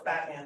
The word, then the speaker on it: Boatman: Boatman, I said, no, it's Batman, the O is silent.